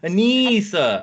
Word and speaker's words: Anissa: saying it well okay Anissa I got it yeah yeah normally they are they are spelled differently or if it's spelled the way that I spell it it's pronounced very different so so you know